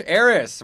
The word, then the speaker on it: Arras: Aris.